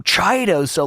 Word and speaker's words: Chiodos: called the chiota brothers but drew pronounces his name chido so like the band's name is chidos and he refused to call it anything other than chidos even though no one else in the world did but to him it was so important that everyone knew the actual pronunciation was chidos and um there are